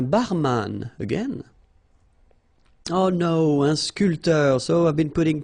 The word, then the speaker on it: sculpteur: All right, so un barman, un sculpteur. Same thing here. This P here is not pronounced. So sculpteur, un sculpteur.